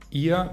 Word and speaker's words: ihr: Ihr wird mit a-schwa ausgesprochen, also als ihr.